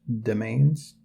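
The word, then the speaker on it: demesnes: uh honestly I just learned uh d-e-m-e-s-n-e-s is pronounced domains that's news to me um anyway it's this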